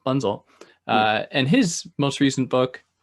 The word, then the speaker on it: Bunzl: Bunzl, do you pronounce the L? Bunzl.